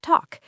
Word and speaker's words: talk: Yes, the L is silent. We say walk and talk.